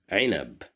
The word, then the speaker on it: عنب: Here we have the letter ayn is controlled by kasra, right below the ayn, so that's why we pronounce it as ay, ainab.